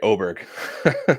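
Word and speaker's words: Åberg: hard um I mean ludic oer sorry oberg I keep getting confused on the the his you know his homeland pronunciation and now this kind of like mixed American uh pronunciation but uh yeah he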